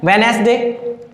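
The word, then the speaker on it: Wednesday: Silent हो जाएगा। इसी प्रकार ये क्या है? वेडनेसडे, क्या है?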